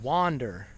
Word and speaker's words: wander: go in the moment so wander it's notice it's kind of similar to wonder it's a short u sound that means hmm I'm